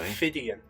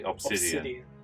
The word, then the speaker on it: Ophidian: I've been pronouncing the name of this terrain wrong throughout the whole thing. Ophidian. Yeah. Ophidian Archway. What did I say? Obsidian.